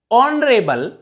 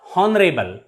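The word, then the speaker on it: honourable: and h e i r air not here honorable not honorable pay attention to the pronunciation of these words in these words h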